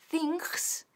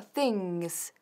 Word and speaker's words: things: Ahora, cuidado con la pronunciación de things, que no es things ni things, sino things. Things.